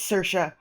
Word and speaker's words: Saoirse: Ah, Saoirse! Okay, that's right. Yeah, because I couldn't remember, I didn't know at the time how to say that, Saoirse, and it's Saoirse.